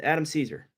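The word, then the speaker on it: Cesare: uh it's it's like Caesar yes spelled chz the Italian spelling of Caesar but I pronounce it Adam Caesar uh besides the violence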